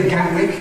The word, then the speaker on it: Gatwick: That’s why London’s second airport is now increasingly referred to as Gatwick Airport. Try saying it that way . Just don’t use the tongue tip. .